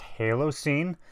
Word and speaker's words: Halocene: new one this is I think it's pronounced Halo scene covering Unholy I don't